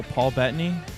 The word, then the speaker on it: Paul Bettany: So Paul Bettany? Is that how you pronounce it? Yes, correct.